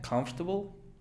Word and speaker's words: comfortable: Pronuncia comfortable. Son 4 sílabas. Perdón, 3. Comfortable. Comfortable. Se elimina una y es comfortable.